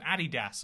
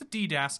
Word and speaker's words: adidas: saying it different uh it's the same with adidas and being like oh no it's a ddas you can't you you made up your own syllable to stress you can't act like that's normal the other one is um